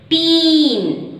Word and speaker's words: teen: Children, T-E-E is teen. T-E-E-N is teen. T-E-N is 10. T-E-E. If there are two E's, you have to give a long E sound. Teen.